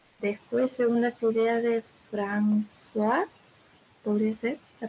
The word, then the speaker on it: François: Después, según las ideas de François, podría ser la pronunciación, Sí, sí, François, perfecto.